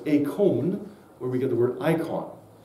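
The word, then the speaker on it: εἰκών: word image here is a Greek word which is uh pronounced as a con where we get the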